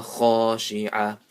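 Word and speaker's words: خاشعة: Absaruha khashi'ah. So this ha and this kha are maddul asli, one alif each. You stretch it one alif each. Khashi'ah. Pronounce the ayn properly.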